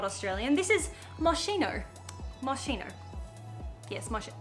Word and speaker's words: Moschino: is a brand that's not australian this is marshino marshino yes martino that's how you say it i got moschino